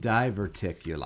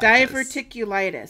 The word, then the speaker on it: diverticulitis: Diverticulitis. Diverticulitis.